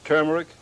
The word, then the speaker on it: turmeric: 1/2 teaspoon of ground turmeric. That word is pronounced turmeric, by the way. It is not pronounced turmeric, as many people think.